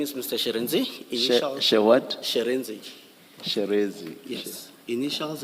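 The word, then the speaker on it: Shirindzi: Sherenzi. What? Sherenzi. Sherezi. Yes. Initials. Sherezi. Sherenzi, yes, Commissioner. It's spelled S-H-I.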